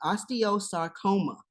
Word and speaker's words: osteosarcoma: uh Rihanna has Osteo tell me if I pronounced this correctly osteosarcoma am I correct yes very true very correct